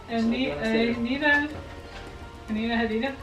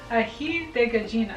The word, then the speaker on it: Aji de Gallina: Alright, Anita Hadida? No. Aji de Gallina. Aji de Gallina.